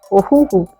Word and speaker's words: Ohuhu: It is not Ohuhu. Ohuhu. That's how you pronounce it.